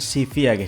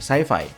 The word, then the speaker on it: Civi: yang bawain acara perilisannya pelafalan yang benar CV ya bukan saifi Xiaomi Sifilis secara garis